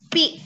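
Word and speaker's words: π: Lambang ini dibacanya pi. Tuh. Dibacanya pi. Ya, dibacanya pi ya.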